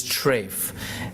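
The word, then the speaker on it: טרייף: opposite of kosher is trafe that's the Yiddish pronunciation of the Hebrew word terev trefa food is not clean or dirty but rather it's kosher or trafe Trey refers to the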